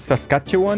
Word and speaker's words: Saskatchewan: It's is Saskatchewan is how you pronounce it with Cuphead.